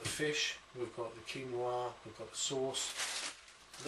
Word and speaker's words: quinoa: this is uh it looks like it's called quinoa q-u-i-n-o-a this actually pronounced quinoa now this is a fantastic alternative